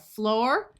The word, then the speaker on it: floor: In these two words, the oo has the long o sound. So we have floor and door.